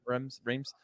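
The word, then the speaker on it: Reims: championship and now is going to is it Reems Charlie is that how it's pronounced streams yeah Rems um which he's 21 and I think uh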